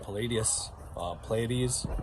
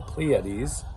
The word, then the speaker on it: Pleiades: between Anunnaki and then the star system Pleiades, I guess, I think that's the correct way of pronouncing it, the Pleiades, but that might be more the NASA way.